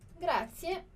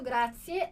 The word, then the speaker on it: grazie: E a pronúncia aqui é a mesma pronúncia que a gente faz no som de pizza. Então, se você tem alguma dificuldade, ó, grazie, grazie.